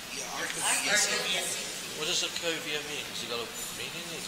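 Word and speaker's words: Arcovia City: And it's pronounced Arcovilla City. Yeah, Arcovilla City.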